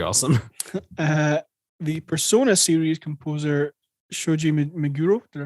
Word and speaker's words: Shoji Meguro: The Persona series composer Shoji Meguro, did I pronounce that right?